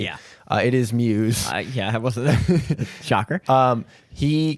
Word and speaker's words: Muse: I have taken your advice and learned how to pronounce his name correctly. Yeah. It is Muse.